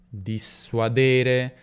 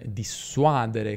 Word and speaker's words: dissuadere: non ci aiuta, quindi: "dissuadere" e non "dissuadere", come dicono tante persone.